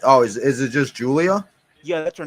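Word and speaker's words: Giulia: no not is oh is is it just Julia yeah that's her name Julia oh okay CUA it was a because her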